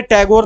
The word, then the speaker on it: ठाकुर: टैगोर और रवींद्रनाथ ठाकुर इनका का रियल नाम ठाकुर ही था पर अंग्रेजों ने टैगोर नाम दे दिया था क्योंकि वो ठाकुर का अच्छे से उच्चारण नहीं कर पाते थे ठीक है तो ध्यान